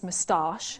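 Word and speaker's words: moustache: to shave off his mustach you have to say it like that to rhyme with harsh I got it uh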